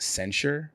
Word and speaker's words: censure: you i'm going to correct you on one thing it's actually pronounced censure for this act um